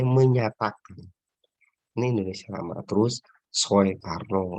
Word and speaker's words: Soekarno: Terus Soekarno, Soeharto, itu kan oe itu dibacanya u, tapi ditulisnya oe.